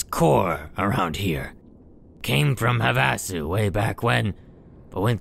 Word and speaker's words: Havasu: i'm known as core around here came from havasu way back when but when things started getting hairy i went here instead havasu all right that's how to pronounce it all right havasu blues why the